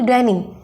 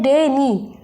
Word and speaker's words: deny: तो अगर हमें इसे बोलना होता है, इसे प्रोनाउंस करना होता है, तो हम बोलते हैं डेनी, डेनी। तो डे बोलने पर हमें क्या करना है, थोड़ा जोर लगाना है।